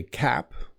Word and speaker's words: cap: to the baseball game, the P at the end of cap does soften a bit. Like I wore my cap to the game, but it is there. I am hitting it with my like cap. But cab b is a slightly different sound.